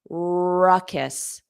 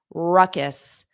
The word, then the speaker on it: ruckus: Ruckus, kiss, kiss, ruckus, ruckus. Get that strong R at the beginning. Ruckus. Hold it out a little longer.